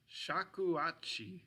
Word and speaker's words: shakuhachi: All right, I don't want to mispronounce these either, but I believe they're pronounced shakuhachi. Shakuhachi would be these flutes right here.